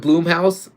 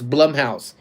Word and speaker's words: Blumhouse: So, I'm just kind of curious now because I see HHN is going to have the um I call it Bloomhouse and then obviously Squish says it's Blumhouse.